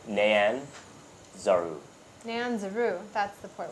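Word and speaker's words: Nyanzaru: to write it down it's n y a n I wrote it down phonetically but um probably yeah got it and then z a r u great nanaru nanzer n Nan zaru n Nan Nan zaru n zaru yeah like cyan gotcha Nan Zar yeah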